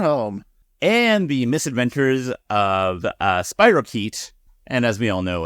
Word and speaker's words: spirochete: Not from experience, but one could assume that a doctor would tell you or somebody else that it's pronounced spirochete.